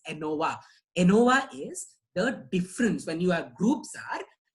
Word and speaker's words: ANOVA: Okay, don't pronounce it as INOVA. It is not INOVA, it is ANOVA.